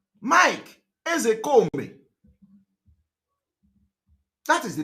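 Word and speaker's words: Ozekhome: All this Ezekome, put K, put H, all those things are nonsense. The real name pronunciation, Igbo. All of them have something to do with Igbo. It's called Mike Ezekome. Ezekome is the real pronunciation in Igbo language.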